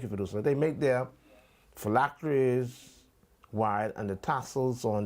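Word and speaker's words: phylacteries: Uh, how do you pronounce the word, producer? P H Y L A C T E. felacttories. Thank you for They make their felactories wide and the tassels on their garments long.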